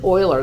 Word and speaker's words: Euler: say his name do you think it is oiler that is correct most people pronounce it wrong it looks like Euler but